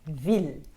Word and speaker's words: ville: ด ว ่ า Ville. Ville s'écrit V-I-L-L-E. Vous ne prononcez pas le E de la fin et vous dites ville. V-I-L. Ville. Ville.